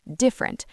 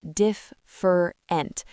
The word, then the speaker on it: different: And a new one, the word different, not different. Different, 2 syllables.